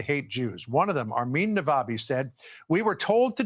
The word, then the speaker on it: Armin: were indoctrinated to hate Jews one of them Arman naabi said we yeah so he pronounced it properly so guys um because the